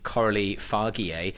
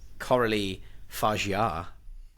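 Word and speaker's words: Coralie Fargeat: I may have pronounced the name Coralie Fargier, but it's not. It's Coralie Fargier.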